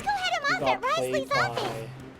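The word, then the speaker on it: Wriothesley: Let's go head him off at Risley's office. Ry Ryzley. I can never pronounce his name. Ryz Ry Ris. It's weird because you don't pronounce the the in his name.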